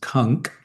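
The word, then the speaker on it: conch: a certain kind of Kunch, which technically is pronounced Kunk, but nobody pronounces it that way.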